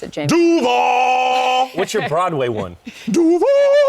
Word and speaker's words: Duval: Ever since Liam Cohen has been getting recommendations on how to pronounce Duval the right way. He went Duval. How would you pronounce it, James? Duval!